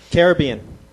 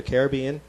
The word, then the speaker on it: Caribbean: Caribbean. Uh-huh. It's pronounced either Caribbean or Caribbean.